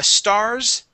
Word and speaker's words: stars: Stars. It has a Z, stars. Yeah, Z ending, stars.